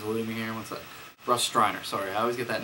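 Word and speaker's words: Russ Streiner: one it's also produced by John Russo and Russ Riner I believe Russ Steiner Russ Riner his name is alluding me here what up Russ striner sorry I always get that name wrong but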